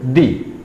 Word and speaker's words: the: तो साउंड चूंकि ए की आई तो अब हम इसको कैसे प्रोनाउंस करेंगे, दी।